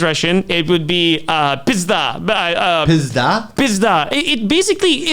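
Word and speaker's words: пизда: my wife is Russian it would be uh pisda uh PDA pisda it basically it it's just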